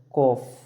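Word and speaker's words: calf: L silent का दूसरा नियम यानी कि यहाँ अगर आपको एफ से पहले कहीं ए दिखे तो हम उसे साइलेंट रखते हैं। कॉफ, अगर आपको एफ से पहले कहीं भी एल दिखे तो हम एल का उच्चारण नहीं करते, सही का कॉफ, हब।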